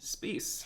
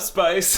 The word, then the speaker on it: Spiess: I remember even when we worked together, I was like, "What's up, Spice?" Yeah, Sorry, like, and I was it's just Spiess.